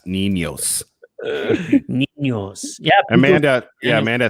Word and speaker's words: Niños: Make sure you pronounce the S. Niños.